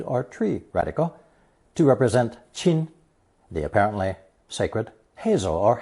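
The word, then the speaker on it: 亲: on an intimate level this combination is pronounced first tone chin and is used in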